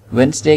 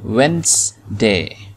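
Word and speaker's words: Wednesday: वेंसडे के अंदर ये जो डी है इसको हम नहीं पढ़ते, ये साइलेंट होता है, तो ये लफ्ज है वेंसडे, वेंसडे, थर्सडे, ठीक है।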